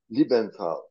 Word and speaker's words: Liebenthal: dear Earth mates we are visiting libenthal uh have I pronounced your then correctly it's correct hello Earth